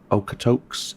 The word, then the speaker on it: Okotoks: and Okotoks and Longview, not Okotoks, I must correct myself, Okotoks, I was corrected in the comments, I thank you for that, and I believe Okotoks is the correct pronunciation, so I do appreciate